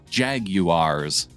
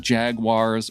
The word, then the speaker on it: Jaguars: you are all wrong it's pronounced jaguars not jaguars or jaguars no opinion on the